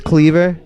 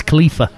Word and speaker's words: Khalifa: Whiz Cleaver. Is that how you say it? Whiz Khalifa. Khalifa. Oh, there's like a F in there. Yeah.